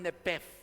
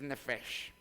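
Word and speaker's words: נֶפֶשׁ: proviene del hebreo nefes otros le llaman nep aunque aunque cuando usted aprenda pronunciación de hebreo es nefes porque la p se convierte en una F en los idiomas hebreos y en los idiomas griegos y y en el idioma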